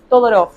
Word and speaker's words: Todorov: problema del otro de todorov sí o tudor un búlgaro que se nacionalizó francés Así que quizás la la pronunciación que usemos no sea la correcta pero buenoos todorov es la más difundida acá por estos pagos